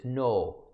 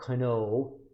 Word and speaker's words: know: know what that means if I'm saying no k-n-o-w I pronounce it as no not Kano Kano grammar you know that